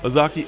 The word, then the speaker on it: Ozaukee: Is it Ozaukee? Nailed it. Really? I You knew didn't the whole time. I didn't think I'd get it. Ozaukee and, of course, Washington.